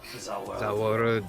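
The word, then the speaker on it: Za Warudo: Zawaldo.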